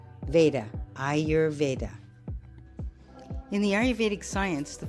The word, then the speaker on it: Ayurveda: The way I teach it is you say EYE-your-veda, Ayurveda.